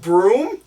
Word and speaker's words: Bruttenholm: It's written Bruttenholm, but it's pronounced Broom.